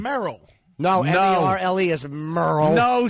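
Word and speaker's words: Merle: way this is Merl because it's m e r l e it's Merl it's Merl about mer name is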